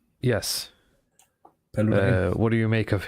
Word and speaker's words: Paludan: Rasmus Paludan. Yes. Paludan.